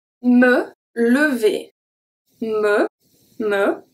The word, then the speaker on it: lever: Here we have two different types of E. The first one is a regular E, and then the second one, lever. V is a E. ER make the sound E at the end.